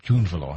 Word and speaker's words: Drunvalo: That's how you pronounce it. Drunvalo. I've been calling you Drunvalo.